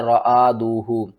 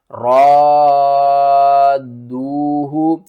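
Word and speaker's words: رادوه: غلطی کر جاتے ہیں، وہ پڑھتے ہیں رآدوہ، وہ الف کو الگ پڑھتے ہیں، را کو الگ پڑھتے ہیں اور دال اور واو کو الگ پڑھتے ہیں۔ صحیح پڑھنے کا طریقہ کیا ہے، ہجے کر کے سمجھاتا ہوں۔ حمزہ نون زیر ان، نون الف زبر نا، ان، را الف دال مد زبر را، دال واو پیش دو، ہا پیش ہو، رادوہ، اس مد کا نام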